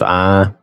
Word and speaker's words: Ai: But the actual pronunciation, I've looked this up online, and I believe all the sources agree that it was actually pronounced I, as in your eye, or as in the letter I.